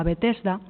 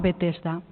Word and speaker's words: Betesda: stand que debe testa estas son las letras griegas con las que se escriben que con nuestros caracteres latinos se leería betesda pero el texto dice que en hebreo se llamaba be testa si nos vamos a